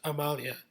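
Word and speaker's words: Amalie: m a l i e but it's actually pronounced Amalia so that's kind of interesting also the the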